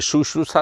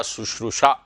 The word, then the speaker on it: शुश्रूषा: तो देखिए छोटा ऊ, फिर बड़ा ऊ, और फिर शा। ये शुश्रूषा सेवा को कहते हैं, बिल्कुल मरीज की सेवा करना हो, सेवा शुश्रूषा, शुश्रूषा, शुश्रूषा, ये इसका उच्चारण है।